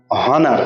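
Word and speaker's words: honour: কি দেখো এইচ ও এন ও ইউ আর অনার এটাকে উচ্চারণ বলি আমরা না অনার বলি না অনার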